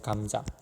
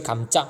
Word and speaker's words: 감자: 감자 맞죠? 이걸 감짜 야 우리 감짜 먹자 야 우리 간장에 찍어 먹자 이렇게 하는 사람 없습니다.